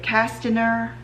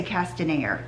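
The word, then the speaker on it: Castañer: Is it Castaner? I would say Castaner, C-A-S-T-A-N-E-R.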